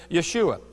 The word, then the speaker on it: Yeshua: Jesus are we talking about again the biblical pronunciation Yeshua and it's by the name of Yeshua or